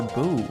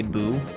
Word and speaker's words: Bow: the time i say bo half the time i say boo uh but i think it should be bo and then some of the time i just say bow out of some weird